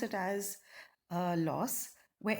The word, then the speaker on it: LAUS: You can pronounce it as loss, where L stands for like signs, A stands for add, U stands for unlike signs, and S stands for subtract.